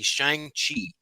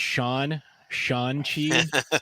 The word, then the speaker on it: Shang-Chi: go with would be Shang-Chi, because I think it's a fun film, and I watched it with the whole family, and everybody enjoyed it. I believe his name is Sean Chi.